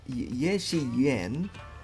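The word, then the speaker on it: Ye Shiyuan: Ye Shi Yuan and Pan Yinu.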